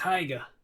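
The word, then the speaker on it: Haigha: only does them when he's happy his name's heiger he pronounced it so as to rhyme with maya okay his name's heya i love my love with an h alice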